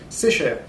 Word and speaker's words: Secher: On dit Secher, pardon, faut Oui.